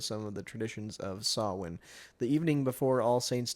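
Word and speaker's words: Samhain: Yeah, it's Sawin. Cool. It says that's how it's pronounced.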